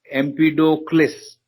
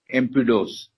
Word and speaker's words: Empedocles: So Empedocles is the full pronunciation. Some people call it as Empedos. You can spell the way which is convenient or pronounce the way it's convenient for you.